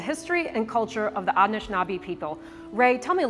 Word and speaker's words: Anishinaabe: Yeah, and how you pronounce that word is Anishinaabe. Anishinaabe.